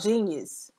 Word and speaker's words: jeen-yuhs: okay all right yeah i think it's called genius genius okay yeah something like that but you